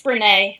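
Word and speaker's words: Brené: The first is Daring Greatly by, I don't know how to say her name, Brene? It's Brene.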